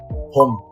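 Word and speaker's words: 봄: Ho plus M. Home.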